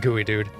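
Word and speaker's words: geoduck: a milkshake straw Pacific Northwest people know it's pronounced gooey dude I'm assuming that joke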